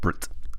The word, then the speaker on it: Bret: in the style of Brett from Flight of the Concords it's an antip podan thing although it's important to know his name is pronounced Brit as he's from New Zealand and they don't have